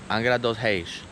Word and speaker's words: Angra dos Reis: Angra dos Reis, how you say it in Portuguese.